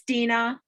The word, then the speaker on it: Dina: Well, I did want to let you know, am I pronouncing it, is it Dina or Deanna? It's Dina.